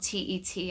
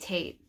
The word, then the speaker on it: Tet: into English is spelled T-E-T. I'm not sure why it's spelled that way, because it's pronounced in a way that rhymes with mate. So it's not Tet, it's pronounced Tate.